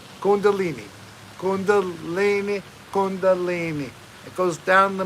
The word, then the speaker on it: kundalini: vibes the karma namaste kundalina kundalini kundalini i said it wrong right now i just said it right kundalini kundalini it goes down